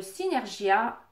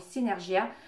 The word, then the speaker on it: Synergia: Mais, voilà, j'ai reçu de la part de Synergia, ça se prononce comme ça, oui, Synergia.